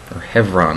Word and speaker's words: Hebron: we will never leave hebron hevron as they pronounce it there Israeli Education Minister Gideon